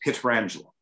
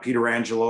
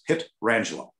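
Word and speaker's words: Pietrangelo: air and it's like it's alex petrangelo it's not peter angelo or petra angelo it's pit rangeland and you know he's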